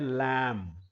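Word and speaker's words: lamb: भी बताया था कि म के बाद कभी ब आ जाए तो आपने ब को प्रोनाउंस नहीं करना है। यह शब्द है लम।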